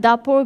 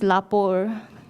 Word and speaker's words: dapur: And then dapur becomes lapor.